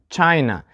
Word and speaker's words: China: front of you and the answer is China so the same rule as for the first question we put the stress for two syllable nouns on the first syllable so we have China